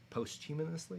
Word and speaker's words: posthumously: of fame was he inducted into obviously posthumous posthumously is how you say it ominously humonously i